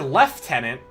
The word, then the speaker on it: lieutenant: So, if the British say the word left tenant, they're for calling it for spelling it lieutenant.